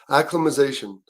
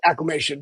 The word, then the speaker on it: acclimation: Add more syllables in acclimatization. Yeah, it's not. Yeah. It's acclimation.